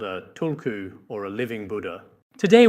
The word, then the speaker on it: tulku: The authentic Tibetan pronunciation of this word is tulku.